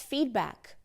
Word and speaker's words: feedback: te dizer oh It's feedback ou então se você não souber que a gente não coloca esse i e não faz o da virar um D no inglês porque você estudou pronuncia